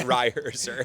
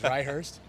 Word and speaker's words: Reiherzer: Yeah, so it's Reihurst? Reiherzer. Reiherzer, okay.